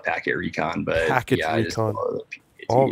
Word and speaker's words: pktrecon: Yeah, that's, I spell it that way. I call it packet recon, but packet, yeah, recon.